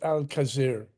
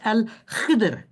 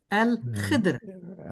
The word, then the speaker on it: Al-Khidr: It's Al-Khidr. Al-Khidr. Or Okay, Khidr. There is no vowel between the D and the R.